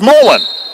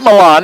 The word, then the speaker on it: Molan: It's Molan, not Milan. It's Molan.